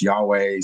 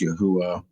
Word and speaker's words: Yahweh: name restored as Yahwh, which is another pronunciation that you could do the YHW as sometimes it's Yahweh, sometime it's Yahwh. Various depends on who translates it.